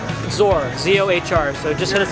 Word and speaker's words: Zohr: So anywhere in town, and pronounce the name. Zor, Z-O-H-R.